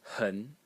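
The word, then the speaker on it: 痕: The next character is pronounced hun in the second tone. So we have a little phonetic change here hun but still the final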